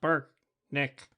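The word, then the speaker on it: Brknk: leader turn to me my name is pronounced Burke Nick and spelled b-r-k-n-k and I'm Larry Weaver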